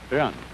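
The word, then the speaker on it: 仁: It's pronounced Ren. Sort of like rolling an R, or rather saying R but not rolling it.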